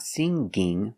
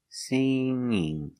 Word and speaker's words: singing: sing with ining singing when you change a verb with ing there's no G sound not singing But singing singing singing I like singing